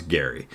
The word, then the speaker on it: Gerry: name was actually Elbridge Gary g r r y somehow we stopped saying Gary mandering and started saying Jerry mandering but his name was Gary uh so this will